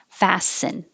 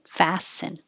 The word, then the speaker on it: fasten: And this looks like it has a T, but there's no T. Fasten. Fasten.